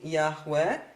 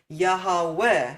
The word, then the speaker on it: Yahweh: You can sing Yahweh instead of Yehovah or instead of Adonai or any other word where you used to have 3 parts. Okay, so that's allowable. That's in fact better than having the emphasis on the first syllable.